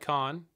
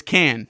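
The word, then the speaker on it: Kann: we had brought in Alec can or is it Alec Khan oh it's can can it probably can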